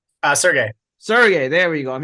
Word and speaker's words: Sergey: Sergey.